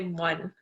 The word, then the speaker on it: mon: But here we'd say mon, so MON.